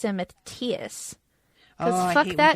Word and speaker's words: Matthias: Maybe that's like Matthias and Matthias. Oh, fuck I hate that when people say too. Matthias.